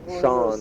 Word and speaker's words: Sean: It's spelled S-E-A-N, like Sean, or an Irish name. It's pronounced Sean, though.